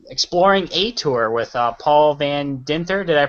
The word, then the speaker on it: Van Dinther: This is actually a Project Geo special, and tonight we're actually doing the Exploring A Tour with Paul Van Dinther. Did I pronounce that correctly?